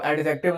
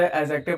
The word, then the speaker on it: adjective: ए ए और जे के बीच में अगर डी आता है तो ये साइलेंट हो जाता है। ठीक है? तो इसको एडजेक्टिव नहीं पढ़ते। एडजेक्टिव पढ़ते हैं।